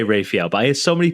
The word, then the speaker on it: Rafael: Dan Dan just quickly is it Raphael or Raphael it's Rafael but I cut you Brit some slack because you don't know how to pronounce anything well I try and say rafhael but I hear so